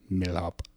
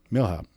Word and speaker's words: Milhaupt: Milhaupt. Milhaupt. So you don't pronounce the T? No. Okay, no, cool. Or the A or the U.